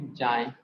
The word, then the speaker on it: chi: एक्स है जिसको बोलते हैं CHI, चाय बोलते हैं, ठीक है ना? या फिर जाय प्रोनाउंस करते हैं, हमारे टीचर ने इसको जाय बोला था तो हम जाय बोलते हैं, ठीक है ना?